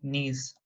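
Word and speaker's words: gneiss: जैसे स्लेट और नीज, ये जी साइलेंट है.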